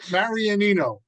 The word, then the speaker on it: Marianino: wasn't GNA get that right nobody does Mar marianino okay are you Italian yeah I'm also a